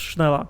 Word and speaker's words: Schneller: brand name schneller schneller it's pronounced schneller it's just i think it's quicker in in german schneller is a stationary